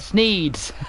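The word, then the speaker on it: Sneads: It's pronounced Sneeds, not Sneeds, Sneeze, but Sneeze, S-N-E-A-D-S. Not Sneeze, but Sneeds.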